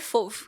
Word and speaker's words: fauve: e chamou eles de le fov que é a pronúncia certa em francês né É fov mas aqui a gente eu chamo fve e chamou eles de